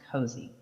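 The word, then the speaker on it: Cozzi: And then also, Sunny does pronounce it the Cozy Market, even though it is pronounced C-O-Z-Z-I, it's pronounced Cozy.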